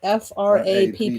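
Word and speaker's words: frappe: order a frap yeah it's spelled f r a p p e but it's pronounced frap isn't that what do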